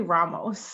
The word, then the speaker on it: Ramos: I'm super excited to have Genesis Ramos. Am I saying it right? Thank you for asking. It's actually Ramos. That's how Ramos. it's Okay, listen, pronounced.